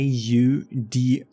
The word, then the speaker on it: Audi: brand in english a a-u-d-i this is how you how you spell it i don't know how you would pronounce that we pronounce it audi which comes from latin to here but because